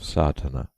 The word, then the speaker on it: Sadhana: A word may be added about the pronouncing of Sardana. The accent falls decisively on the first A which has the broad sound of the letter.